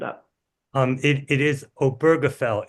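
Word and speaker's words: Obergefell: Um, Ben also wrote the novel The Spring Before Oberll. Ben, you're going to have to spell or pronounce it correctly for us.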